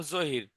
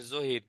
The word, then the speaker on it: জহির: আমার নাম জহির, ZAHIR, জহির। জে JAHIR, জহির না?